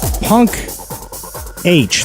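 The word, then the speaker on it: Punkh: 10 countdown song number two from New Delhi punk h that's how it's spelled PU nkh punk p u n KH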